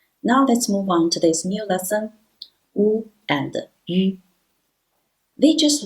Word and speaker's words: 五: When we put W, in English we read it W, but in Chinese pinyin we read it wu, wu, initial wu and final wu. When we put them together, we just pronounce wu.